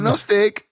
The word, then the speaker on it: Gnostic: n o s i c I guess it's pronounced gnostic it does it does mention it down here oh notic um yeah it sort of means very Gnostic